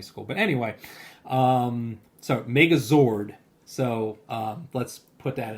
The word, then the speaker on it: Megazord: Um, Haley, also known as my wife, says, "BTW, listening to your last episode, Adam saying Megazoid instead of Megazord is giving me the ick."